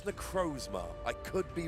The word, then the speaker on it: Necrozma: exalted so yes um I would say necrosma think it's necrozma I could be wrong